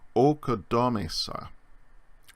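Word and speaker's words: ᾠκοδόμησα: The iota from oi has slid under the letter. It's no longer pronounced, but it's there as part of the spelling. So the first aorist, first person singular form of oikodomeo is okodomesa. Okodomesa. Notice the A has become O, and the iota is still there as a subscript, but we don't pronounce it.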